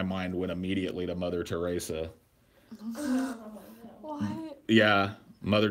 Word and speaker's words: Teresa: Well, I guess, that my mind went immediately to Mother Teresa. What? Yeah, Mother Teresa, dude. Or Mother Teresa, depending on how you say it. It's totally Teresa.